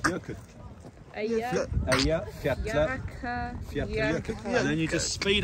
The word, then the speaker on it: Eyjafjallajökull: So how do you pronounce it again? Eyjafjallajökull. Eyjafjallajökull.